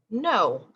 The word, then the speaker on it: know: k in the beginning a word that you might use all the time is no i know what i'm doing that kind of no also has a silent k at the beginning so we have no